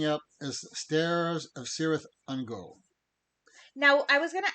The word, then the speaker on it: Ungol: Am I pronouncing that right? Ungol, yep.